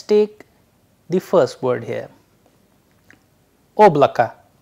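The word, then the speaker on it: облака: the first word here oblaka oblaka here again the sound at the end is coming as a in place of o and here the stress sign play a vital role that is why the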